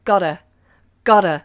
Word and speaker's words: gotta: means got to and we actually pronounce it Dada Dada so those T's become like these I've gotta go I've